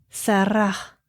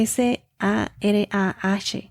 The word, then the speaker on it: Sarah: Y se pronuncia Sarah. En inglés tiene una H al final. Se escribe S-A-R-A-H.